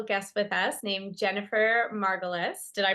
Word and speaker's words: Margulis: And today we have a special guest with us named Jennifer Margulis. Did I pronounce it right?